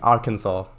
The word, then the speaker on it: Arkansas: bananas no i'm joking arkansas there you go that's the correct pronunciation uh yes these ones